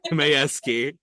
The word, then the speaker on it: Mayewski: Mayewski? Wow, I It's just butchered that. Mayewski. Mayewski.